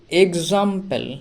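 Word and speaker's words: example: গজ হলো তারপরে দেখো এক্সাম্পেল এক্সাম্পেল মানে হলো উদাহরণ এক্ষেত্রে এক্স এর উচ্চারণটাও গজ হয় দেখো ই তে হলো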